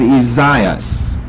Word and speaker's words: Esaias: And then over in the New Testament, we have Esaias.